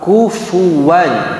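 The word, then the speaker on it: كفوا: Nah, waw intinya ketika dia diucapkan diawali dengan monyong. Tidak bisa kita mengucapkan huruf waw nggak monyong.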